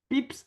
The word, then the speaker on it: pips: cela dans le jargon un pics prononcé pips à la française sur le coup de